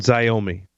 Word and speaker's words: Xiaomi: How do you pronounce that? It's Hikvision and Xiaomi.